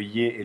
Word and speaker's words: Й: qu'il y avait le y et le yo avec son tréma ici il y a le il y a le ye donc ça c'est le ye quand il y a